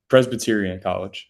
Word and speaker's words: Presbyterian College: Presbyterian College.